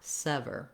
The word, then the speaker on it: sever: Sever, sever. This is the same sounds that we have in a word like seven. So that might help you to think about seven, sever. Different ending syllable, of course, but that first vowel is the same as in seven.